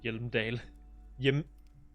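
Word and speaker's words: Hjelmdall: Man from Hyundal and the Mammoth Riders. Man from Hyundal, Return to Hyundal. And the solipsistic Man from Hyundal and the Hyundal Man. Jeg ved godt, at de udtaler Hjelmdal.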